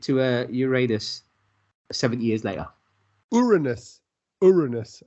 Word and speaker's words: Uranus: Uranus, I believe, is the proper pronunciation.